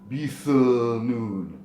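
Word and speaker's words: بثنون: This letter is generally pronounced th, a very thick American TH sound. However, sometimes it's also pronounced as a very thick Z sound, especially like in Palestinian dialect. It's za, but in this case, in the pronunciations that I've heard in the recitations by native speakers, it is a th, bithanun.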